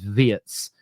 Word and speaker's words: Wirtz: This happens a lot with international names, but they're saying it isn't Verts, it's Vietz. Um, so I'm going to